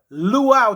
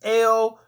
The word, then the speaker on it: Luo: Nilotic people, or the Luau tribe, or the Luo tribe, the Lao tribe. You understand? Sleek off for my people on the continent if I'm pronouncing that wrong. It's Luo, Luo, but they're Nilotic people.